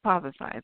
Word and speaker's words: Pozercize: Yes, Pozercize.